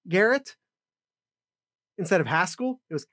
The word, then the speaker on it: Haskell: with pascal it was haskell garrett instead of haskell it was haskell like it rhymes with pascal it was really disconcerting